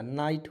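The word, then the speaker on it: night: टी अंतिम में आएगा, उसका उच्चारण आइट के रूप में, तो इसमें जुड़िए ना, नाइट होगा कि नहीं, नाइट मीन्स रात होगा कि नहीं।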